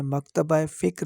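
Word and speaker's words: مکاتبِ فکر: जो कि गलत है मकतब की जमा मकातिब है इसलिए मकातिब फिक्र और इसकी वाहिद मकतब फिक्र होगा इंसारी तकरी तनज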